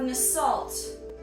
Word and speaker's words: Nasalt: We have Nasalt. Nasalt rhymes with assault, so we know to stay away from him.